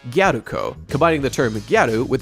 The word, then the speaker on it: Galko: character galo's name first of all is actually pronounced guko combining the term gadu with the suffix Co